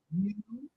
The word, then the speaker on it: you: The word U has three pronunciations. U, ya, ya. And the most common pronunciation of U is ya.